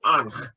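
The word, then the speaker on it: ankh: And Anochi is incredibly close to Anch, which is the Egyptian symbol, which actually looks like a cross. It's a religious symbol. It's A-N, it's spelled A-N-K-H, but it's just like Anochi. The Anochi just has a tiny yud at the end. And Anochi, and then Aton, A-T-O-N,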